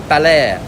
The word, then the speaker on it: Baler: b a l e e r and it's pronounced balair this this beach here is where they actually